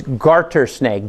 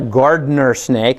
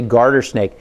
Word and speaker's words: garter snake: getting married a garter this is not a gardener snake it is a garter snake very identifiable you can